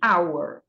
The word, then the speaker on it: hour: E também, pessoal, palavras que o H é mudo. São poucas, acho que só 4 palavras no inglês em que o H é mudo. Então, nesse caso, o H ele só está ali na escrita, mas não vai fazer parte do som.